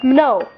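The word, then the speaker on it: Mnow: first name my first name is hard to pronounce it's no or like you know m-n-o-w never heard of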